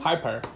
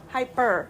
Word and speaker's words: Hyper: How do you pronounce it? The white ones? Hyper. Hyper.